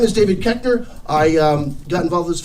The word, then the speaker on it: Koechner: And once you learn that, it's so much easier than Koechner, which is mispronounced. It should be Koechner.